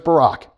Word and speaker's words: Barak: Most of my life growing up, I said this name Barak, and then we got a president with this name. And it was like, oh, that's how you pronounce that.